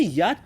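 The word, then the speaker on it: 一: Pour prononcer yat, prends le mot Yamaha. Mais vous gardez le ya et tu mets le T au dernier sans prononcer la terminaison.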